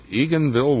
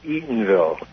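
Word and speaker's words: Eatonville: Eagganville, Washington. How do you pronounce it, Walder? Uh, Eatenville. E O N. Eatenville.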